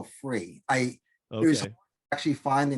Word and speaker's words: FURE: like to pronounce it and with the u silent so i looked at